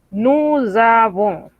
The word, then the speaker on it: nous avons: Entonces, cuando pronunciamos vamos a transformar esa S en una Z y lo vamos a pronunciar todo como si fuese una sola palabra. Nous avons.